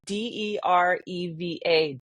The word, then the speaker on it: dereva: So like driver in English is spelled Dereva and is said dereva, because that's how they would say it.